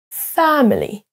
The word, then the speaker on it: family: Les deux mots à l'écran sont accentués sur la première syllabe. Beautiful, beautiful, beautiful. Et c'est la même chose pour family, family.